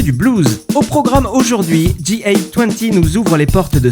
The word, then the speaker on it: GA-20: On commence direction Boston avec G20 ou GA20 si vous le prononcez à la française.